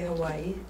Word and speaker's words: Hawaii: So Wayne was saying the word Hawaii, which is the proper way to say Hawaii. Hawaii. It's got ha in it as well. Ha-vai-e is breath, water, life.